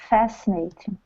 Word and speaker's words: fascinating: Look where the stress is. Do you see the little not asterisk, the little apostrophe? It's on the it's before the F. Okay, fascinating. Fascinating. Fascinating. That's right. First syllable stress.